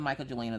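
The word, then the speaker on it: Mkya Jelina: I wasn't the biggest fan of the Micah Jelina this week.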